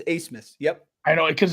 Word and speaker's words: Abmas: It's like ace in the hole, but it's ABMAS. It's Asmus.